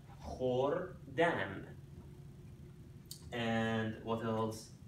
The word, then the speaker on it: خوردن: When you put K, H next to each other in Farsi, you pronounce that kh. Khordan.